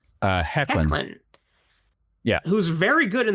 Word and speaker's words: Hoechlin: Literally immediately in season 2, they have Tyler Hoechner. Is that how you pronounce his last name? Hoechlin.